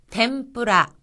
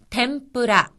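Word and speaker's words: 天ぷら: 그 다음은 템뿌라, 템뿌라. 이것은 튀김이란 뜻으로 여기서의 응이라고 하는 것은 미음으로 발음이 되어서 템뿌라, 템뿌라라고 합니다.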